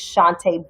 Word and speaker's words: Chantay: It's just Shantae. My name is spelled Chantay.